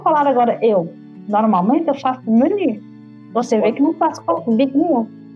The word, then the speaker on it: menu: Igual para menu de cardápio, qual que é a pronúncia correta? Menu, tem o U biquinho, o famoso U sozinho no final.